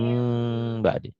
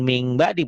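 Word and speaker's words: من بعد: Mim mim. ba'di. Nih lihat dengerin ya. Mim ba'di. Mim bunyi M-nya agak bindeng. Mim. Jangan ming ba'di.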